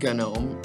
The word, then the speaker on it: GNOME: It is not pronounced GNOME, it is pronounced GNOME. Don't ask me why, I don't know.